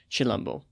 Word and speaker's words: Chilombo: Her name is pronounced Jhené Aiko, and the title of the album is Chilombo.